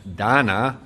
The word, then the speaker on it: Dana: meeting up with uh donna just make sure you say it right it rhymes with banana she keeps on telling